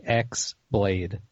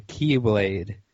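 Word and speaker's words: χ-blade: So it's spelled like X Blade. But it's not X-Blade, which is a different game. Yes. So the Keyblade is the ultimate weapon that grants its wielder control of Kingdom Hearts.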